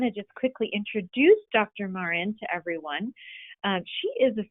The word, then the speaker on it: Mauren: you to remind me is your last name pronounced i'm embarrassed i'm thinking no that's okay my name gets pronounced lots of different ways it's actually marin marin that's right yeah great it's such a